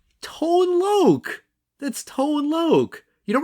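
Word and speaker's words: Tone Lōc: and you would not confuse juice played by Tony lock as a kid so um wait I'm sorry played by who just say it I don't know how do you say his name Tone Lo that's tone lo you don't remember tone L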